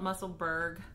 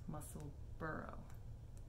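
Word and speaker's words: Musselburgh: think that's a lot of people call it muscleberg which you know here in the states yeah we got pittsburgh we got other bergs but i believe that the pattern is written to be pronounced muscle burrow so i'm not sure i don't know anyways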